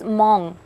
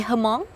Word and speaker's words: Hmong: I had to ask in your own language, in the Mong language, how do you pronounce mong? Like we call mong. In Vietnamese, we call her, right? Yes. Yeah. And in English, I believe people tend to say hong But but the correct one is mong.